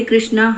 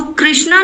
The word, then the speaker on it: कृष्ण: हरे कृष्णा हरे कृष्णा तो कृष्णा नहीं बोलना चाहिए तो कृष्ण वो मैं ठीक से प्रोनाउंसिएशन जानना चाह रही थी। हां माता जी वो मतलब कृष्ण और राम में आ की मात्रा नहीं होती है। लास्ट में नहीं होती।